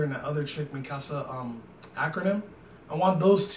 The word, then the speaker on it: Ackerman: I think it's Ackerman. Right, I was right.